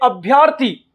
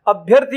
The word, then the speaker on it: अभ्यर्थी: ध्यान रखना, बहुत सारे स्टूडेंट यूं कहते हैं अभ्यर्थी, अभ्यर्थी शब्द का उच्चारण करते हैं। अभ्यर्थी शब्द भी गलत होता है, अभ्यर्थी होता है, और इसका संधि विच्छेद अभी धन अर्थी होता है।